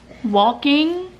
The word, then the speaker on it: walking: But last night, he was actually getting the hang of walking. Why do I keep sounding like that when I say it? Walking. Walking. I'm Southern, so obviously I don't pronounce the L.